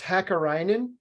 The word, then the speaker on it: Hakkarainen: It's pronounced Hakkarainen. I was so close.